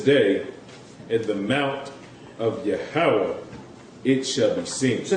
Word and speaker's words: Yahweh: That this seems to be the true Hebrew pronunciation of the divine essential name Yahweh or Jehovah.